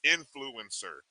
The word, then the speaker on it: INFLCR: if you didn't really if you saw that and you just thought those were initials it actually is pronounced influencer just in case you